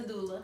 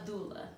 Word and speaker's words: doula: So Also known as a doula. I'm gonna ask you the correct name. Say it one more time. A doula.